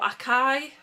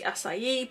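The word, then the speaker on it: açaí: from the same collection acai or Akai however you pronounce it I believe it's meant to be acai but I think that's how Julie petite pronounces it and she's Brazilian so that may be how they pronounce the word um over here we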